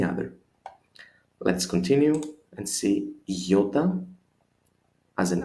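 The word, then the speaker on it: ιώτα: Let's continue and see iota as an I, capital, small, without a dot, just as you do it, but without the dot above it. And iota, again, it's like an E in it.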